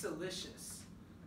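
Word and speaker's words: siliceous: it anything made out of silicone dioxide is pronounced celicious all right so if something is celicious it is yeah maybe maybe that uh that seaweed is pretty salous right that would be bad because that would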